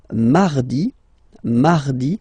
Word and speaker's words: mardi: So you can hear that you don't pronounce it that strongly, this R. Mardi, mardi, okay? You don't need to go too deep like mardi. No, no, no. You don't move your tongue, so it doesn't sound like mardi.